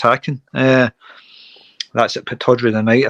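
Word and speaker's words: Häcken: Aberdeen against Hacken. Or Haken. I think it's pronounced Hacken.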